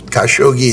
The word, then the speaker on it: Khashoggi: Kashogi is the right pronunciation.